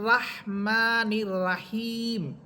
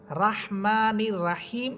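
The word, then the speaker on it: الرحمن الرحيم: তাহলে আমরা বুঝলাম যে এখানে র হরফটা মোটা হবে এবং রাহমানির রাহিম এটা ভুল উচ্চারণ এখানে হবে রহমানির রাহিম তাহলে এই শব্দটা এখন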